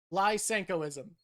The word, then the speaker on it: Lysenkoism: So, lenkoism, lenkoism, it's spelled like that. I was adding an sh. It's an s. Lenkoism. Lysenkoism.